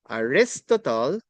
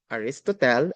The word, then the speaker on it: Aristotle: Aristotle is the father of political science. Again, it is not pronounced as Aristotle. Aristotle, it is Aristotle.